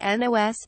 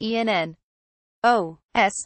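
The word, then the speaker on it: NOS: there are no periods it's supposed to be pronounced enn Oh S not as the word nuz details I know but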